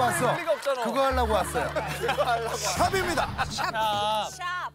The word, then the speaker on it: 샵: 삽이요? 샵. 샵. 무슨 발음을 저렇게 해요, 샵을. 아, 일부러 저런 거 좀 넣지 마요. 뭘 넣지 마. 그거 하려고 왔어. 그거 하려고 왔어요. 샵입니다. 샵.